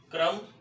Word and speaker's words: कर्म: तो हम देखें अब देखिए दोनों का उच्चारण, इसका उच्चारण क्रम और इसका उच्चारण कर्म। क्रम कर्म, यहाँ क आधा था, यहाँ क पूरा है। कर्म, यहाँ क के साथ हमें स्वर की आवाज सुनाई दे रही है, सुनाई पड़ रही है की आवाज, जबकि यहाँ क